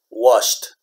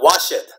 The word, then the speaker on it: washed: would wash one syllable this one is washed washed washed okay so it's not wash it it's not wash it okay so this is one this is one syllable okay syllable all right